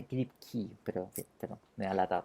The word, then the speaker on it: Kripke: Que todo esto, uno en español lo pronuncia Kripke, pero en inglés es Kripke. Es como la última E, es como una I, ¿de acuerdo? Entonces, se pronuncia Kripke, pero me da lata pronunciarlo así.